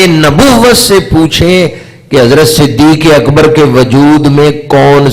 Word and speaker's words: صدیق: سے پوچھیں کہ حضرت صدیق اکبر کے وجود میں کیا کیا شانیں پائی جاتی ہیں۔ یہ تو معنی میں نے کیا صدیق کے حوالے سے۔ اگر صدیق جو کہ اصل تلفظ ہے صدیق، تو اس کا معنی